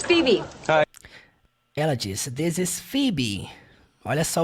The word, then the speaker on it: Phoebe: Ela disse, this is Phoebe. Olha só o jeito que é escrito o nome dela. Se escreve Poebe com PH, mas você fala Phoebe.